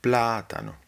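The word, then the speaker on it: plátano: The important thing is that it is the third to last, platano, platano.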